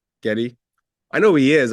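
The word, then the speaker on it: Gedde: Um, uh, is it pronounced, uh, Ge Watanab? Getty Watnab. Yeah, Getty.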